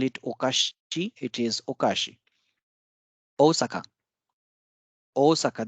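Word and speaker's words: おおさか: okashi it is okashi Osaka Osaka there is a double o sound here so o Saka it's not Osaka it's Osaka Kani crab umbrella you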